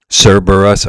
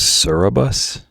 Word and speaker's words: Cerberus: How do we pronounce threeheaded dog's name? Cerberus. Okay, that's what I always say when I was growing up. I used to always think it was Cereabus.